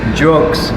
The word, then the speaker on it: Geaux: And it's not pronounced. I think Siri in the car said it. Geaux Brewing.